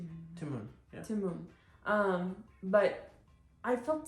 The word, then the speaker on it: Timon: Timon.